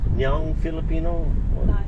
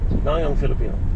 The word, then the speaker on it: Nayong Filipino: I can't pronounce it. Nyang Filipino? Nayong. Nayong. Nayong Filipino.